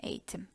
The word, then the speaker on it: eğitim: We have 3 syllables in eğitim. E-yi-tim.